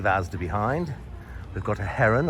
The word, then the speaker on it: Heron: As we leave Asda behind, we've got a Heron, or as it's pronounced locally, an Eron Foods.